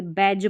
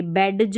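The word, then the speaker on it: badge: जैसे इसको देखो, बैज पढ़ेंगे, बैडज नहीं पढ़ेंगे, बैज, और इसको बज पढ़ेंगे, ठीक है, और इसको एज पढ़ेंगे।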